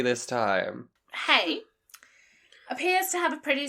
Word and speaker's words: Hay: me to me it I feel like it's hey like hey hey girl hi yeah it is hey whatever John hey I've